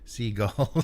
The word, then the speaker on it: Sigil: Seagull, says dude. I pronounce it seagull. And you should put a third option in there. Yeah. Yeah, more the J sounding G with a D sound, yeah.